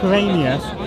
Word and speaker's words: Quirinius: The census of Quirinius was a census of Cyrenius. That's a Q. Quirinius, Cyrenius.